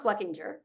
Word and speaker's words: Fluckinger: And I made sure to check that that is the right way to say it. He said I could flub it and it's fine, but it is Don Fluckinger.